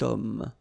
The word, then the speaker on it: homme: Remember, H is not pronounced, okay? So you've got the sound of O at the beginning of this word, okay? Cet homme.